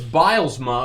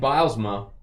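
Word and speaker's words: Bylsma: It's Bilesma, of course. Dan Bilesma. That's how you say it.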